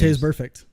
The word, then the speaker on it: Vontaze Burfict: Vontaze Burfict.